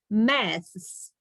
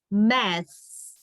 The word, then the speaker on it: maths: Maths. THS. So you pronounce it this way, maths, maths.